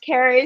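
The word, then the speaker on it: Ceri: word Carrie means that if you can roll your r's please do but it means love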